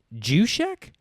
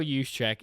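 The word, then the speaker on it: Juszczyk: Jek. It pronounced Ushek.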